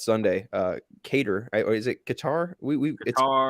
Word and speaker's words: Qatar: it like the the it's not Qatar it's like Qatar I promise I've listened to the pronunciation like a couple times on Wikipedia uh versus Ecuador both